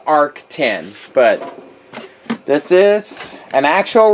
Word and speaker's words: ARC10: When I got it, I called it ARC10, but according to Arrakis website and their promo videos, it's pronounced ARC10.